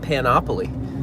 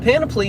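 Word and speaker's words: panoply: Everybody wants to pronounce it panopoly, but paniply is a good word.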